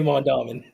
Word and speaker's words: Mondawmin: you want to say Mondawmin. Mondawamin. Mondawaman.